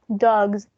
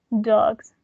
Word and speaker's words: dogs: were boy a voiceless this one it's going to be voiced because the previous sound was voiced so it's going to be dogs dogs so the examples are